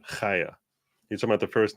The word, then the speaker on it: Chaya: It's Chaya. Comes from the back of the throat. Chaya. You're talking about the first name of Libs of TikTok? It's pronounced Chaya.